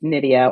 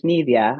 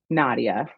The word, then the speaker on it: Nydia: all the time and it's Nidia or in Spanish Nivea. I do code switch a little. Um but I I just politely just say because it's definitely happened where I'll say my name, I try to say as loudly as clearly as possible. The person will come back with Nadia and I'll just politely repeat back, no, it's Nidia like Lydia.